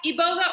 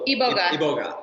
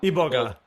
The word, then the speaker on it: Iboga: Yeah, Iboga or Iboga. It's pronounced both ways. Okay. If I were in Gabon, how would I pronounce it? Iboga. Iboga.